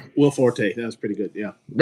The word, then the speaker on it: Will Forte: No, it's Will Forte. You got it. Is Will Forte. Yeah, he pronounces it that way.